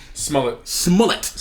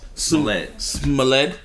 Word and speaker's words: Smollett: Smollett. Like a mullet. Smollett.